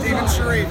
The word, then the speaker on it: Steven Sharif: Is that how you pronounce it? Steven Sharif, yep.